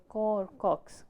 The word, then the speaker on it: Caux: They also have a website So I think it's pronounced as Cox Roundtable.